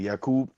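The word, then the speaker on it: يعقوب: familiar with the term Yakob. Jacob for Jake. Yeah. Jakob. Exactly. Yakub. This that's how we say his name as well in in Islam.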